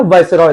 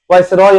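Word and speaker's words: viceroy: वाइसरॉय था। कौन था? वाइसरॉय। ठीक है, वाइसरॉय या फिर वाइसराय हिंदी में बोलते हैं। तो आप प्रोनाउंसिएशन में कंफ्यूज मत होइएगा, वाइसरॉय बोलो या फिर वाइसराय बोलो, दोनों का मतलब एक ही है।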